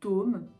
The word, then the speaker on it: dôme: très fermé par exemple le mot dôme d o accent circonflexe me devrait être prononcé très fermée un dôme ou alors un pôle très fermé ça je l'ai pas